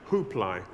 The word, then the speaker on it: Kublai: He particularly liked one called Kublai, pronounced Huplai.